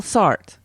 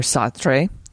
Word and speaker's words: Sartre: Jean-Paul Sartre, or Sartre, depending on how you want to pronounce that, said, there is no